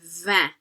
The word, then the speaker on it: vingt: We have quatre, cinq, six, sept, huit, neuf, dix, et vingt. Notice the T isn't pronounced, which means the G isn't pronounced, and the N is an N, so it makes that vowel sound in front of it nasalized.